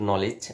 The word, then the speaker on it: knowledge: ঠিক আছে, কিন্তু নলেজ বানান করলাম, এখানে কিন্তু প্রথমে কে আছে, কিন্তু কে এর উচ্চারণ হবে না, মনে থাকবে।